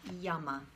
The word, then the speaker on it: yama: first limb is called yama can you just say that there's no accent anywhere they're both short as it's very simple it's yama try saying that these